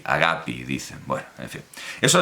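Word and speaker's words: αγάπη: la versión de presa se pronuncia a la moderna y se dice agapi porque ahora los griegos laita que era entendemos larga y cerrada la han cerrado tanto que han convertido en una I agapi dice bueno en fin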